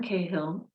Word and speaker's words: Cahill: Martin Cahill, I should have asked, am I saying your name correctly?